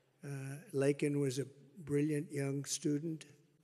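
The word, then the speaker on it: Laken Riley: and Riley you know Laken very well now and after months of prodding him Biden couldn't pronounce her name he said uh he said Lincoln Lincoln Riley and Lincoln Riley was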